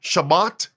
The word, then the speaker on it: Shabbat: shouted his Christian faith from the rooftops, lived some kind of a Jewish lifestyle. Beloved, so here we have Stu Peters. He's publicly rejecting, distancing himself from Shabbat, which is another pronunciation of the word Sabbath, even Sabbaton. These are all different pronunciation of the seventh day of the week based on the Hebrew, based on the Aramaic, and based on Greek.